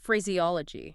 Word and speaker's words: phraseology: Is it phraseology or phraseology? Phraseology. You need every single one of those syllables in there. You can't just smush them together. No, you absolutely cannot swallow the E sound just to get through the word faster.